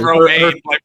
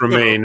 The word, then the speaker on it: Romijn: Romaine, yeah, it's Romaine. Her surname looks weird, but like it's just pronounced Romaine.